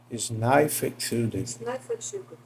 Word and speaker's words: Snæfellsjökull: Só que a palavra ela não é inglês, né? Ela é islandesa. Então, eu acho que a pronúncia correta seria algo assim. Snæfellsjökull, que é como eu coloquei aqui no Google para tentar entender.